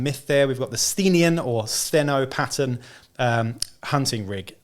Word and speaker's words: Sthenian: I've heard a few people say Sthenian. I think that's how you pronounce it.